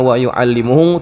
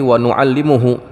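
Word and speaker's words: ونعلمه: Dibacanya bukan wauallimuhu tapi wa nuallimuhu.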